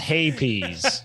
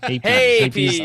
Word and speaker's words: Hapes: Jared says pronounced Hapies. Hapies.